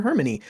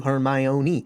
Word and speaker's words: Hermione: So I called her Hermony until we get to Goblet of Fire where she breaks down the pronunciations to Hermione. And then from then on, readers were able to pronounce her name properly.